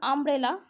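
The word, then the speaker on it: umbrella: যেমন ইউ এর উচ্চারণ এখানে, যেমন আমব্রেলা, ইউ এর উচ্চারণকে কী করেছি, ইউকে বলছি আ হিসাবে উচ্চারণ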